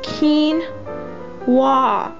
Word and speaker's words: quinoa: won't focus well anyway right there it says keen wah it tells you how to say it i have garlic cloves